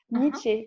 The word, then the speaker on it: Niche: Grupo, du coup, Grupo, Nietzsche, comme niche en fait, ça s'écrit comme.